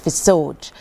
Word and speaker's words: HPESOJ: love getting asked, because it's actually not an acronym. It's actually pronounced FISOJ. It's FISOJ. So we are FISOJ Group, and it is actually spelled Joseph backwards. So that's a little trick. If you want to remember how to pronounce it, it is Joseph spelled backwards.